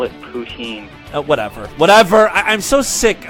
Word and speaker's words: poutine: an idiot asking for boots in or Putin or whatever poutine that is the French pronunciation so it is boots